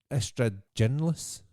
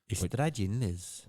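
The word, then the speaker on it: Ystradgynlais: It's pronounced that way, but it's spelt with a Y.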